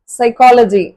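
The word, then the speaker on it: psychology: ஒரு example pneumonia pneumatic next வந்து எஸ் சைக்கோ சைக்காலஜி psychiatrist சைக்கியாட்ரி இந்த சைக்கோ சைக்கி சைக்கிக் அப்படின்ற வரக்கூடிய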